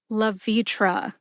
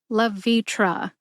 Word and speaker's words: Levitra: together and you get La vitra emphasize V see if you can hear that emphasis when I say it slowly love vitra love vitra that does for all